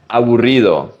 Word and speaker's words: aburrido: Aburrido. Abu. Think about the movie Aladdin. The monkey was called Abu, at least in Latin America. So you say aburrido.